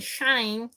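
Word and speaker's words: Schein: of looking at remember the word was shine and shine right shine so s CH GI n he gave us an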